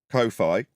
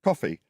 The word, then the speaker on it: Ko-fi: But it's not Ko-Fi, although that's how it's spelled. It's coffee.